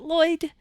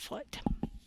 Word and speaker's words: Lloyd: One of the L's is silent because in America we pronounce it Lloyd, not Floyd.